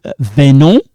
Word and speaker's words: venons: Now, venons, this one we don't pronounce it. We don't pronounce this S.